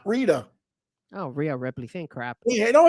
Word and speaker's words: Rhea Ripley: uh my my pronunciation Rita Ripley doesn't wrestle there's no Rita Ripley Ria Ripley Ria it's not even close it's not like you